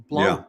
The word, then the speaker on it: Blount: touch on that Blount is that how you pronounce that Blount versus US BL blun blun okay and that case was dismissed we're